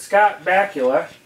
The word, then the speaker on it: Scott Bakula: I have, what is it, Scott Bakula.